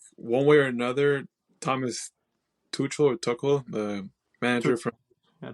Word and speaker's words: Tuchel: I think one way or another, Thomas Tuchel, the manager from... Yeah, Tuchel, you said it right.